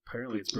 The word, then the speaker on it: Brigitte: How is this pronounced? Brigida. It's Brigida. Watch her video, her intro video. She says her name in the end, and it's Brigida.